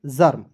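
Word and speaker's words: Germ: पर रेफ लगा देंगे ई को यहां पे साइलेंट कर दीजिएगा जी ई आर एम क्या पढ़ेंगे दोस्तों जी आर में बहुत लोग पढ़ लेते हैं जो क्क गलत तरीका है दोस्तों क्या पढ़ेंगे जर्म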